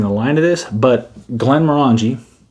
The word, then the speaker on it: Glenmorangie: line of this but glenn morangie that is how you say it glenn murangy tenure yeah looks like this